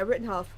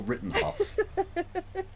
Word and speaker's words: Rittenhouse: No, say it properly. Yeah, Rittenhouse. There we go. Christy's so German, she literally accidentally called him Kyle Rittenhoff. For those who don't know, Hoff is house in German.